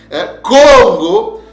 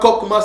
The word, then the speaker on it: Congo: l'habilité la sagesse c'est c'est comme ça que nos pères le prononcer ce n'est pas CMA bienaimés frères et sœurs hein ce n'est pas KMA ce n'est pas c'est pas aussi coma non c'est Congo et Congo veut dire